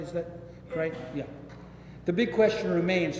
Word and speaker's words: Crichton: Did I pronounce this right? Is that Crichton?